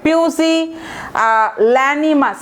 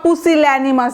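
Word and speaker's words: pusillanimous: এটা একটা হতে পারে, পিউসি ল্যানিমাস অথবা পুসিল্যানিমাস যেভাবে বলেন, উচ্চারণটা খুব একটা সুন্দর না আর কি, পুসিল্যানিমাস।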